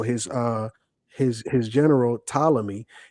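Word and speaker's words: Ptolemy: So his uh his his general talamy it's not palamy family just like it's not pterodactyl or pfiser it's tal the p is silent thank you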